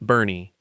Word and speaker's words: Boerne: Boerne, pronounced Bernie.